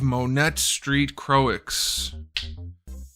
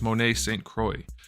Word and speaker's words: Monet St. Croix: Marvel Legends X-Men build a figure chode wave Monet Street Croix I couldn't help myself I know it's pronounced Monet singha it's not pronounced that way either it's Monet Saint Croix anyway this is a character I don't know